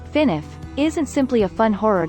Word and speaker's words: FNAF: a horror film Freddy's often known as FNAF pronounced finif isn't simply a fun